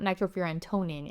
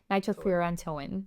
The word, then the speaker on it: nitrofurantoin: I actually said it wrong. It's not nitrofurantoin. It's nitrofurantoin.